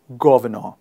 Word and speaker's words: governor: after me gov no we don't pronounce the r in the end so it changes to ello governor for example hello governor